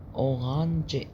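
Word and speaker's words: Orange: الأو أورانج، أورانج دي كلمة بتتنطق زي الإنجليزي.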